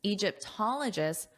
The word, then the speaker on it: Egyptologists: While the theory is an ingenious solution, some Egyptologists, remember that syllable stress, -ologists, Egyptologists aren't convinced.